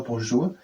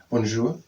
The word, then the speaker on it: bonjour: The first thing here was hello, bonjour. Bonjour. Bonjour. Bonjour. I would say bonjour. But it is bonjour. Yes, and in English the J is most of the time the J. Bonjour.